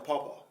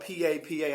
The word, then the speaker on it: Papa: I call him Pawpaw. I don't see my name over there. Mama. Well, the funny thing is it's spelled P-A-P-A. I know that's Papa. But we say, but I say Pawpaw.